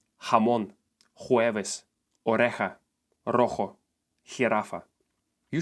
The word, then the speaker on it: jamón: You are gonna hate me, but this letter makes sound G. Again. Yes, just like in English words here or hat. What that means is that these words on the screen are gonna sound like this.